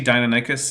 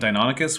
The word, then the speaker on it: Deinonychus: Like, if you say Deinonychus instead of Deinonychus, which is the correct way, like, I'm not